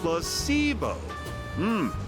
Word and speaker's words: placebo: to our vocabulary today repeat after me plus sio h the stress is on the middle syll very good you're figing interest well a placebo is a pretend pill